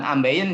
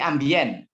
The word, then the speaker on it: ambient: ya Ini sederhana Willy ya tapi penting tadi pronounciationnya bukan ambeien ya tapi ambient Oh ya kalau ambeien nanti konotasinya berbeda nanti